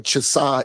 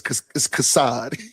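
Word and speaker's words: חסד: You be calling him Chasad. It's Kassad. That's crazy. You I've say never ever said it right. I always say you Chasad. say Cha. Yeah, you pronounce it Cha. In the Hebrew, it's so it's Kassad.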